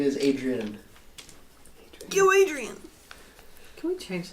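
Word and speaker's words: Adri'enne: Can we pronounce it that way? Yeah, Adrian.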